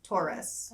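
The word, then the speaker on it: Torres: you were saying tourist no Taurus or Taurus like the astrological it sounds like the astr logical sign but it's spelled t o r r e s yeah yeah yeah um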